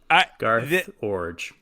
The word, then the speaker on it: Iorg: Iorg. I have to say, I had no idea how you were going to pronounce that.